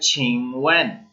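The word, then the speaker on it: 请问: First word जो है वो है छिंगवेन।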